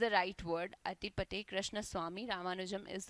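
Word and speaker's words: Attipate: inconvenience but यस इट इज the right word अटी पटे कृष्ण स्वामी Ramanujan is the full name of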